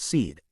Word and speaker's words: Sid: "I am Sid pronounced seed.